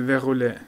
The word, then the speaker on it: verrouillée: Cible verrouillée. Verrouillée. Elle не читается? Non. Verrouillée.